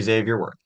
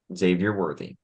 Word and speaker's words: Xavier Worthy: I'm hoping for a wide receiver, preferably Xavier Worthy. If you could pronounce his name, that would be awesome. Xavier Worthy.